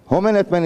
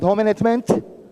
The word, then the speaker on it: Homenetmen: Ալիկիդ Մայրիկի ըրածը միներ, ադի չէ։ Homenetmen is հայ մարմնակրթական ընդհանուր միություն. That's it. And you have to be able to pronounce that. It's not Homenetmen, it's not Homenetmen, it's Homenetmen.